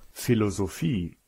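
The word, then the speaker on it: Philosophie: in inglese e poi c'è un p che si pronuncia come una F proprio come in foto o filosofie eso or alcune regole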